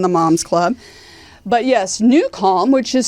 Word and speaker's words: Nucalm: But yes, Newcal, which is spelled Nucalm, is an app that can help you sleep better, focus better.